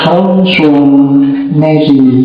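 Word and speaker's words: François-Marie: Nama aslinya Fran Mary bacanya gitu.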